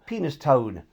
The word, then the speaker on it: Penistone: Penis Tone. Although it looks how you'd refer to your manhood, it's actually pronounced Penistone.